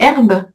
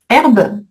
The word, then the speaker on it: herbe: Alors que herbe, il y a pas de petite étoile. Donc c'est un H muet. mot d'origine latine. Oui. OK. Donc pas de pas d'étoile et on fait la liaison.